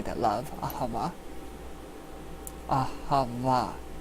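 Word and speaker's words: אהבה: Ahava. It's spelled A-H-E-V-A, but it's pronounced Ah-Ha-Va.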